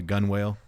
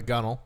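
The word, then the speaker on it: gunwale: He was sitting on the I think it's called the gun whale. The gunnel. The gunnel.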